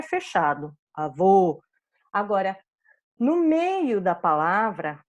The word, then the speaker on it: avô: lembram do avô meu avô deixou de ser alguém aqui está marcadinho só a vogal para vocês avô fechado era masculino e avó aberta era feminina nosso fantasma da sensação